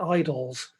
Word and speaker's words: Idylls: He pronounced it idols to draw attention to the Greek word meaning a short poem, eidolion, meaning a short descriptive poem.